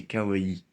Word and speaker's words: kawaii: si tony kako kawaii parce que souvent les français se tromper disque hawaï mais c'est kawaii c'est juste comme ça et donc on commence